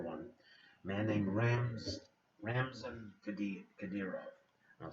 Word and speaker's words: Kadyrov: a man named Ramzan Kadyrov. I'll spell it Ramzan. That's his first name, relatively simple. And the last name again is Kadyrov, Kadyyrov. Russian is a very phonetic language once you think about that.